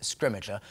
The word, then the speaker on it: Scrimgeour: There was, we have kind of eventually reached consensus on how to say his name, and we're going with Scrimmager.